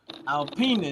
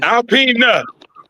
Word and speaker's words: Alpena: Alpena. Alpena. Yeah. Okay. You can Alina. I'm I'mma pronounce it Alpina for now.